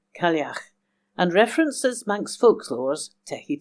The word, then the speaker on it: Cailleach: It's called Clague and references Manx folklore's Tehi Tegi.